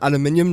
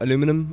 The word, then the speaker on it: aluminium: and aluminium casing also yes I pronounced it aluminium not aluminum I'm sorry aluminium is vital in